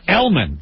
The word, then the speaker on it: Gelman: Or Elman. The G is silent.